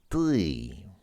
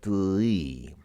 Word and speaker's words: ты: You start off with that sound, which I mentioned, but then becomes the more normal E sound. So it's not ты, but it's more like ты.